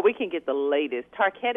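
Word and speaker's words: Tarkett: can get the latest tar ket is how you pronounce yes tar cat I love that okay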